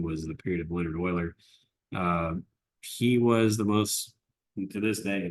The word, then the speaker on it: Euler: It looks like Euler, but it's pronounced Euler. Leonard Euler.